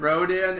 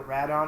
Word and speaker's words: Rodan: At least they pronounced it right. At least they don't call him like a Radon or something, which is a thing an older movie did.